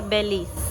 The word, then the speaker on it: Belize: Se escribe Belice y se pronuncia Belis.